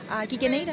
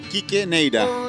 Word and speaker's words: Quique Neira: Kike Neira, el gran exponente del reggae acá.